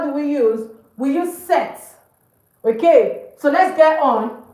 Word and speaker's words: cet: sorry for the mix-up, whether it begins with a vowel or it begins with a consonant, set is set. It doesn't change.